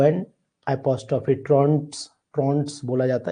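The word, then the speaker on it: Trouton: Goldberg ने बोला था इसी तरीके से आपको ट्रॉनस रूल भी एक पढ़ा जाता है जिसका नाम है ट्रॉनस rule T आर ओ यू एन टी ठीक है ओ एन एपोस्ट्रोफे ट्रंस ट्रॉट्स बोला जाता है साइलेंट है ट्रॉट्स रूल भी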